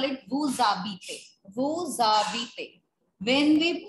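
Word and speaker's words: vous habitez: See, beta, the rule is that H is treated as a vowel, right? So when we pronounce it with wu, we call it wu zabite.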